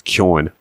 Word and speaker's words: Keoghan: He's even started pronouncing his own name wrong. It's Keoghan.